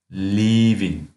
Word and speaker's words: leaving: Здесь долгое и leaving.